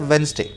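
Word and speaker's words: Wednesday: डी जो है ना, इसमें डी साइलेंट है। आप क्या बोलते हो उसको? वेडनेसडे बोलते हो ना, वेडनेसडे ऐसे ही बोलते हो ना, मत बोला करो। ये वेडनेसडे होता ही नहीं, ये होता है वेंसडे, तो ये डी को साइलेंट करके चलना है वेंसडे।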